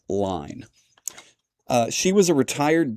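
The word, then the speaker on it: Ligne: That's spelled L I G Ne. I'm assuming that it's pronounced line.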